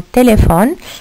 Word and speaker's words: téléphones: Nous avons téléphone qui s'écrit avec S, mais le S ici ne se prononce pas.